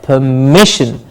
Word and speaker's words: permission: the patch said Laura and mission goes higher permission you can hear the mich clearly stressed permission yes next one